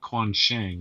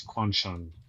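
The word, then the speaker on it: Quansheng: It's not Quan Shang, it's Quan Shun.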